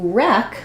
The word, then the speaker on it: wreck: when we move to wreck we see here again we have our uh W is silent so we're starting with our R sound and this also follows